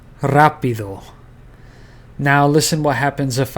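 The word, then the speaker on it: rápido: Here the emphasis is on this a rapido.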